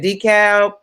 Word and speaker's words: DeKalb: DeKalb, Georgia.